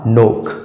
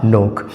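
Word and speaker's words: knock: है k एओ के के एन ओ सी के के के तुरंत बाद ए आया है इसमें भी के साइलेंट होगा और इसका सही उच्चारण हो जाएगा नोक इसका सही उच्चारण हो जाएगा नोक उसी तरह से के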